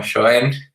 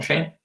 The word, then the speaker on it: Schoen: pronunciamos ese nombre como Schoen, pero hace poquito leí que por sus orígenes o raíces se pronuncia como Shane, que no tiene nada que ver, pero bueno.